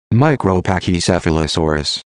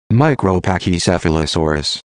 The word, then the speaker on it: Micropachycephalosaurus: I actually know how to pronounce it. Micropachycephalosaurus. Micropachycephalosaurus.